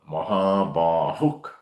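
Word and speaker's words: महाबाहुः: So you pronounce the Visarga as a K. Kam Mahabahuk.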